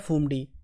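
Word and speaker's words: Phumdi: पे जो हट्स बने हैं उनको कहते हैं फूम डी पीएच यू एम डी आई I think this is a spelling इनको बोलते हैं फूम डी और ये जो लोकटक लेक है इसको डिक्लेयर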